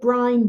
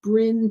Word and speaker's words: Brynne: pretty darn easy right but i get brian brining br how do you pronounce your name and it's bryn so i learned from